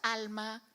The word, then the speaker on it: Alma: She said, because she made a point of pronouncing it in Spanish, although it could have been Scottish. Yes. Yes, Alma.